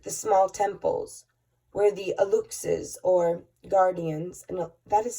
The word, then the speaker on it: Aluxes: It is important also to visit the small temples where the Aluxes, or guardians, and that is spelled A-L-U-X-E-S, in parentheses, guardians, do their spiritual work. The Alusas, it's pronounced Alusas, to the Maya, are the spirits of things that exist.